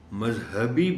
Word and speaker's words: مذہبی: ہے محترم ٹیچر کہ روانی میں لوگ مذہب نہیں کہتے، مذہبی نہیں کہتے، مذہب کہہ جاتے ہیں، مذہبی کہہ جاتے ہیں۔ وہ جو ایک زبان کا رنگ ہے وہ نہیں صحیح طور پر چڑھتا، لہذا اس لفظ کے تلفظ کے معاملے میں ذرا محتاط رہنے کی ضرورت ہے۔ مذہب ہے تو پھر یہ لفظ مذہبی ہے، مذہبی نہیں ہے۔ ثقافتی، اس لفظ کو